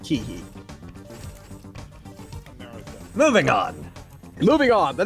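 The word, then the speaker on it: Keahi: e a h i I absolutely looked up to pronunciation of that it is in fact pronounced Kei moving on moving on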